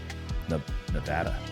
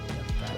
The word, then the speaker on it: Nevada: Nevada. Said it right. Nevada.